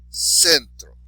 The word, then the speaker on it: centro: So the last syllable is tro, so the next to last is sen. So, centro, right?